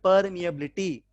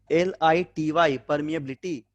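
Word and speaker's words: permeability: और epsilon not को बोलते हैं परमिटिविटी, इस म्यू नॉट को हम लोग बोलते हैं परमिएबिलिटी, ठीक है। स्पेलिंग क्या है इसका, PER, परमिएबिलिटी, ठीक है, MEABILITY, परमिएबिलिटी, इसको बोला था परमिएबिलिटी।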